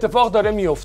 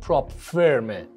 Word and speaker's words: prop firm: WALLET This is happening with propfirms too. Unfortunately I see so many YouTubers and influencers pronounce it wrong! these companies are pronounced PROP FIRM, not PROP FORM!